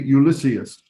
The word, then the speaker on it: Ulysses: um ulysses was probably ulysses you see so we say ulysses it's on the second to last syllable but the name is